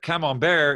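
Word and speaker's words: Camembert: cholesterol and okay but come on bear is how you pronounce it in french come on bear in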